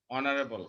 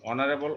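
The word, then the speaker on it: honourable: অনারেবল, অনারেবল অ, এইচ এর উচ্চারণ অ, এন, আর যখন বলবো হ হয়ে যাবে যেমন তখন এ হবে, যেমন হাউস।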